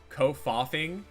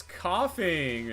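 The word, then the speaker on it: Koffing: So as a kid I pronounced coughing as co kofaing.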